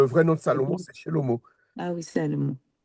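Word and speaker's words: שלמה: Alors là, c'est Shelly, Non, c'est un O. Shello, Shello, même, Ah, Shello, il y a les deux points là, c'est des O. oui, Shelomo, Voilà, Shelomo, Shelomo.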